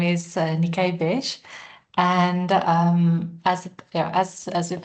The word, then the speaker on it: Niké Wesch: Um, I'm really excited for um for this opportunity and um don't worry you uh you pronounce my my surname correctly. Uh my name is Nikay Bes and um as as you've heard I'm in